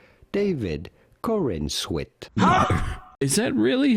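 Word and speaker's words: Corenswet: name hang on how do you go about pronouncing his name David Corin Swit David Corin Swit is that really how you pronounce his name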